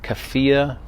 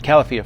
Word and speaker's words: Califia: Now, Better Half is by a company called Kafia, I think that's how you say it, Kafia Farms. And they've got a couple of different options. Califia Farms, sorry.